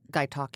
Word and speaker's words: Gaitok: Gaitok.